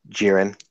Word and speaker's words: Jiren: facing off against uh is it jiren or jiren how do you pronounce it it's jiren all right against you